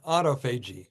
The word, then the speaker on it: autophagy: And autophagy. Did I pronounce it right?